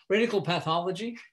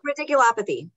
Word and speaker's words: radiculopathy: Or I'm not saying that right. You mean radiographic pathology, or? No, it's radical. Oh, radiculopathy. Radiculopathy. Okay, yeah. Okay. Yeah. I just didn't say it right.